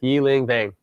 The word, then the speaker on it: Yi-Ling Vang: So please enjoy our interview and conversation with Yi-Ling Vang. Well, my name is Yi-Ling Vang, and my Hmong name is pronounced Yi-Ling Va.